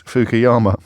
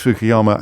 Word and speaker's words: Fukuyama: So extraordinary, really, to reflect upon how wrong Francis Fukuyama, if indeed that is how you pronounce his name, Francis Fukuyama has proved to be.